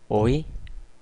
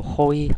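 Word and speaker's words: hoy: 자 아에 대해서 알아볼까요 아체의 경우에는 어 영어의와는 다르게 어떤 경우에도 소리가 나지 않는 무음이에요 발음해 보도록 할까요 오이 아오라 아셀 예 스페인어 초보자분들 경우에 이거로 호이 아호라 이렇게 발음하시는 분들도 있어요 처음 배우시는 분들은 근데 절대 헷갈리시면 안 되고요 절대 그냥 없다고 생각하시고 그냥 발음 하셔도 돼요 오이 아오라 아셀 이런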